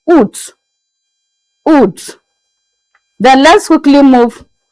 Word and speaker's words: août: In French, August is pronounced as août.